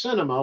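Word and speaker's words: Sinema: but thanks to senator cinema it's pronounced cinema like a movie it starts with an s she's a lot of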